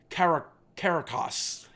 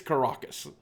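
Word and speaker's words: Karakas: our rare Caracus or as I heard some YouTuber pronounce it yesterday car caracos which I don't think is correct I think it's karacus great card I think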